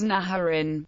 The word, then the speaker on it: Naharin: Egyptian sources call Mitanni Nhrn, which is usually pronounced as Naharin, Naharina, from the Assyro-Akkadian word for river, cf.